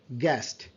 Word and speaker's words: guest: And over here আপনি যদি দেখেন দেন u soundটা, u sound to silent, we say guest, guest, guest, and gas, u is silent.